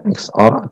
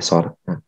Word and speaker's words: XOR: Bebas kalian mau bacanya XOR atau SOR, tapi kalau saya akan lebih sering menyebutkannya sebagai SOR.